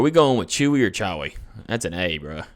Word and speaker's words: Chewie: going with chewie or chowi that's an a bro is that chawa or chewie it's pronounced chewy though okay okay hey i'm